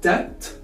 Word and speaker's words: debt: Moving now to these couple of words, we have debt, doubt, and climb. As you can see here, the letter B is silent. We don't spell the B.